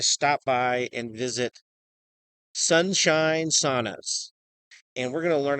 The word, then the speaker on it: sauna: to start saying it the traditional Finnish way, which The is Finnish way. yes, the Finnish way, which is sauna.